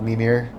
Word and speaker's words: Mimir: Let's see if I'm pronouncing that one right. Survey says Here we go. Mimir. Yeah, Mimir.